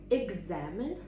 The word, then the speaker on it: examine: Tom examined. Давайте подивимося, що означає слово examin що цікаво, що буква, да, друга в слові, але в вимові буде як ґamine.